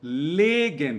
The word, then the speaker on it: legen: Assim como nós temos o verbo legen, cuidado com a pronúncia, que é e aqui é i.